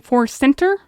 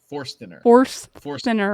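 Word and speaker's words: Forstner: Are you saying 4-center? It's spelled Forstiner. Forstiner bit. Forstiner bit.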